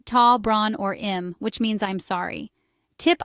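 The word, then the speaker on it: tá brón orm: In Irish, you can use tá bron orm, pronounced tá bron or im, which means I'm sorry.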